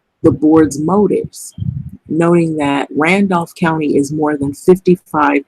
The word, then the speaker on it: Randolph: the state has issued a statement urging world Randolf it's actually Randolph County so stands mirror if I did not